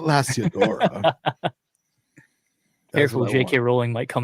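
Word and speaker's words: Lasiodora: I want Smitty to make a shirt that says it's Lasiadora, not Lasiadora.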